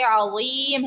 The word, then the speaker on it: عظیم: پھر رو کو پر پڑھیں گے، عظیم ہے، عظیم، زا نہیں ہے. بہت سی خواتین پڑھتی ہیں سبحان ربی العظیم، عظیم عظیم، زا سے پڑھ رہی ہوتی ہیں، تو زیم نہیں ہے، عظیم.